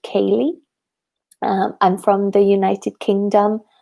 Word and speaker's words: Kayleigh: So my name is pronounced Kayleigh.